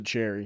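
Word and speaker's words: Sheary: I believe yeah yeah Cheri Cheri but yeah I believe they pronounced a cherry which is weird but sure and then they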